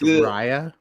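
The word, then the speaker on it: Raya: up against Rya and The Last Dragon it's pronounced Rya technically but um I believe Henry you're up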